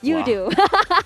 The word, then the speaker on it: Yoodo: And of course, we cannot forget our official digital telco partner, Yoodo. Yeah, Yoodo. You do you. No, I'm just kidding. Yoodo. Well, that rhymes. It rhymes, right?